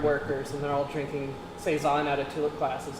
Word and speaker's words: Saison: And so, how do you say this? Saison? Saison. Saison. So, It's French.